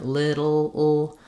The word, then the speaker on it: little: Same thing with syllabic L at the end, like little. I would say that's usually more of a schwa, but little with more of an I, higher sound, doesn't matter too much.